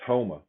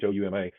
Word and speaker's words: Houma: For instance, Homa, I think that's how they pronounce it there, Homa, Houma.